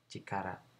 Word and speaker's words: 力: Dibacanya cikara. Cuman ada dua guratan dia. Ini guratan pertama. Kemudian ini guratan kedua. Nah, seperti itu. Ini dibacanya cikara.